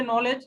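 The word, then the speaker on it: knowledge: डी डी से data I एन से information, information हाँ, के के से नॉलेज, के साइलेंट है, नॉलेज हाँ, और डब्लू डब्लू डब्ल्यू से विजडम, विजडम विजडम।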